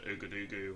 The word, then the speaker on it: Ouagadougou: I've still only done that one flight to Ouagadougou, or Ouagadougou.